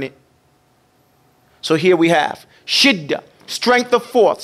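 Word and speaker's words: شدة: Everybody say shidda. Shidda. Okay. Now shidda is sheen, dal, tarmabuta. It's pronounced shidda or shiddatun.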